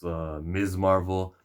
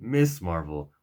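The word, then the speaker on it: Ms. Marvel: up were like Doctor Strange spider-man Miles Morales MS marvel this is the part of the review that stops because I mentioned the name of Kamala Khan her name is pronounced MS Marvel pronounced to get miss Marvel would be inaccurate he used to be ignorant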